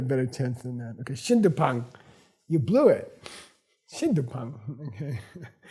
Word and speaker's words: shin tu phang: So, Shindupang, okay? Say, Shindupang.